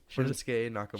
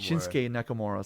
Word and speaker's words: Shinsuke Nakamura: see I'm saying it wrong it's a tongue shinsuke Nakamura shinsuke Nakamura so then he has beef with that guy